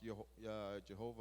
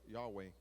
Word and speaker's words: Jehovah: Reina Valera 1900 es Jehová, which is often pronounced Jehovah or Yahweh, es usado con los sacrificios.